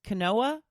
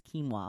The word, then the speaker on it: quinoa: morning and I said have you tried this Kanoa and he's like Wendy its quinoa I'm like no that's definitely Kanoa it's pronounced quinoa right if it's quinoa let's spell